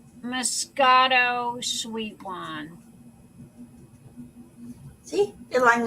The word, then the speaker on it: moscato: it's called sweet it's it's a mosquito i'm sorry that is not mosquito but that's the way it's spelled moscato it's italian moscato it's spelled like mosquito okay why in english